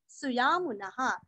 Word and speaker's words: सुयामुनः: है रस्वनी सन्निवासस सन्निवासस सुयामुनः सुयामुनः सु और मु दोनों भी रस्व सद्गतिस सत्कृतिस सत्ता सद्भूतिस